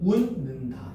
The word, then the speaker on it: 웃는다: 웃는다는 18항에 따라 웃는다로 발음한다. 왜? 웃는다에서 지금 뭐야? 시옷 보여. 시옷. 됐니? 봐봐. 이거 뭐 돼? 디귿이거든. 네. 얘랑 얘랑 얘가 만났지? 맞아. 그러면 이게 비음으로 바뀌어. 음. 어. 그래서 운 니은으로 바뀌는 거야. 그래서 운는다 이렇게 되는 거야.